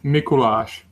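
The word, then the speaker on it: Mikuláš: name for me uh we pronounce it mikolash in check oh yeah I was right I mean the the frowny the frowny face about the f the S makes a sound that that explains why you said like gou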